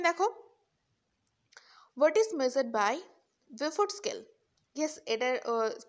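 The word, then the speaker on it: Beaufort: অ্যারেট next question দেখো what is মেজারড বাই বেফোর্ড scale yes এটার প্রোনাউন্সিয়েশনটা একটু অন্যরকম ইউ টা এখানে উৎস থাকে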